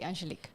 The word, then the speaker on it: Angelique: correctly but yes yes written down like angelica just to make sure but you just say angelique angelique welcome to the